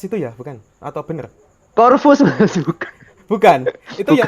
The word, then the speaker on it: Corvus: Corvas itu, bacanya Enggak. Corvus apa Corvas sih? Bacanya? Bacanya tetap pakai EYD Indonesia, Oh Corvus gitu.